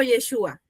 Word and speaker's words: Yeshua: Yeshua, creo que si no me equivoco se pronuncia como Yeshua.